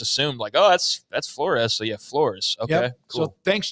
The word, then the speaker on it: Flores: Tracy Fisher said that, by the way, the quarterback, Zane Flores, is how they say his last name. Flores, okay. not Flores, as it's spelled.